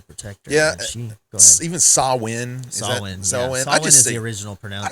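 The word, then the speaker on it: Samhain: of Sam yeah so uh Sam short for Sam Hayne Sam Howen uh samen there's different ways of of pronouncing it but but altogether it's it's all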